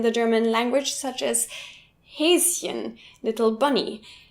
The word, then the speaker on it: Häschen: German language, such as Häschen, little bunny. This looks like a sh, but actually the syllable ends after Häs. So of course many Americans fall for it, pronouncing it Häschen.